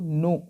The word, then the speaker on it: know: यहाँ पे के जो है साइलेंट रहता है, कुछ लोग होते हैं जो इसको कनऊ करके जो है प्रोनाउंस करते हैं, बट कि यहाँ सही प्रोनाउंसिएशन क्या होगा, सही प्रोनाउंसिएशन इसका नो होगा।